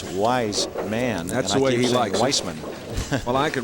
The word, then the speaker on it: Weissman: in the sixth frame wisan another strike I keep making that mistake with the pronunciation of his name it's wise man I wisman well I